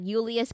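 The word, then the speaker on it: Iulius: you know there's like Ulius Kaisar. Oh, by the way, so there's no J's in Latin. There's no J's in Latin. Everything is pronounced like a I. So uper Ulius um and then the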